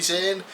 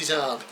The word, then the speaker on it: Zahn: I have always called him Timothy Zahn. Turns out it's Timothy Zahn.